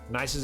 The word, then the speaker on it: Nice: sort the whole thing it's pronounced nice by the way cool